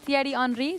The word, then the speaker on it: Thierry Henry: This one based around Thierry Henry. Did I pronounce that correctly?